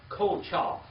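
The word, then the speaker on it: כֹּחָהּ: Oh, Kochah. How do you spell that? K-O-C-H-A-H.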